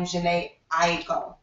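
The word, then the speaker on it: Jhené Aiko: This week I chose a song by, I believe you pronounce her name, Janae Aiko.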